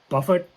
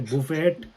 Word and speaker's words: buffet: yeah very good so it's that's how you pronounce it yeah yeah Vineyard yeah good yeah what's this some people say Buffett some people say Buffet okay how do you say this buffet buffet